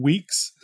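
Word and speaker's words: Weex: second pick is a framework called weeks it's spelled we X it's uh released by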